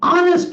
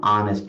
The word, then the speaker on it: honest: an HMT employee an honest man because here the first sound is a h is silent over here an honest man an honorable gentleman